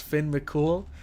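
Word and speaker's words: Fionn mac Cumhaill: Now, I never with my English American brain, I never would have looked at this and thought his name was Finn Mcool, but after seeing the videos we saw, apparently that's how you pronounce it.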